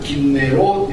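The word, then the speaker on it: כנרת: 이걸 이제 히브리어로 정확하게 발음하면 긴네로 이렇게 되는 거죠.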